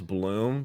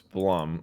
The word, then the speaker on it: Blum: __ ] that's okay I used to think that Blum was Blum but I'm pretty sure it's plumb like the way the way you pronounce it Steve Steve Blum I'm